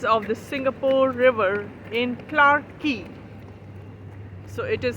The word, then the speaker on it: Clarke Quay: on the sides of the Singapore River in Clark key so it is spelled as c-l-a-r-k q-u-a-y but they call it